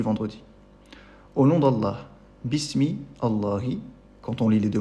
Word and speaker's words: Allah: mot qui le précède, le lam change et on dit il devient la au lieu de la. Le la c'est le vrai a en français qu'on prononce dans le mot Allah quand le quand quand ce mot est précédé de d' main ou de fatha.